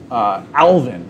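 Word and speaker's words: alevin: And we're going to move on to the alvin. Alvin. Which is spelled A-L-E-V-I-N.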